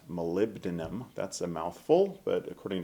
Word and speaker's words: molybdenum: And what they've done there is they've added 2% molybdenum, that's a mouthful.